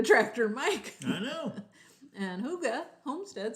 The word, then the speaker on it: hygge: those old trucks there we go so it's hygge hygge means cozy and danish oh there you